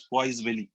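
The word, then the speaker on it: Poiseuille: मुझे नहीं पता आप इसको कैसे प्रोनाउंस करोगे, बट I pronounce it एज पॉइसवेली, ठीक है। यस, इसको हम पॉइसवेली कहते हैं, जिसको शॉर्ट फॉर्म में आप पॉइस भी कहते हैं।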